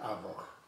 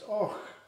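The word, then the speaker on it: Avoch: Och, not Avach. Vo. Oh, right, I thought you said. What would you like me to say? That's Avach. okay. No, it's Och. Is that how you say it?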